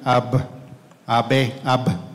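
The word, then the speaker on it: אב: de derecha a izquierda está compuesta por dos letras que se pronuncian AB AB AB de ahí viene el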